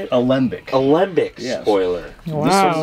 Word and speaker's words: Alembic: Alembic.